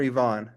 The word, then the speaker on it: Ivan: I um am clear is your name pronounced Ivan or Ivonne Ivan is fine I mean Ivan is in my native Bulgarian language but Ivan everybody calls me Ivan so Ivan is good Ivan is how you're